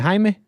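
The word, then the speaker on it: Jaime: your call is it is it Hae is it Jamie how's it going Nick did I get your name wrong no you got it right Hae hey right on appreciate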